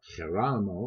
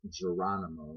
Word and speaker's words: Geronimo: Pete Rose, Tony Perez, Cesar Geronimo, if you want to say it properly, although everybody says Geronimo, so I guess I'll say it that way, as obviously Mel Allen will.